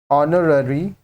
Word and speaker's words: honorary: Next ऑनररी post, ऑनररी post, यहाँ पे भी H साइलेंट है। ऑनररी starts with a silent H and a vowel sound, so article N is used.